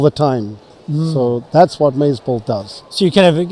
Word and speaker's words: MazeBolt: How do you pronounce that? MazeBolt? MazeBolt.